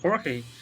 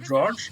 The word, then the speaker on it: Jorge: name is uh called jorge the name was read like george and is really like porky so it was surprised